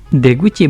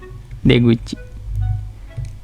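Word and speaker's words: 出口: Deguchi berarti pintu keluar nanti.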